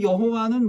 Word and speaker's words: 여호와: 그 모음을 붙인 거를 자음과 읽으면 여호와예요. 그 실제는 여호와가 아니에요.